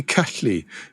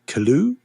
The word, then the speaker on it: Cylu: In Welsh, that'd be Cully. But really? Nice. Yeah, but I English, Cully, Calloo, Kailu, Silu.